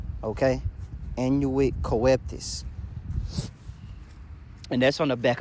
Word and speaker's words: annuit coeptis: They annuis coeptis, right? If I'm saying it right, right? Annuit coeptis, okay? Annuit coeptis.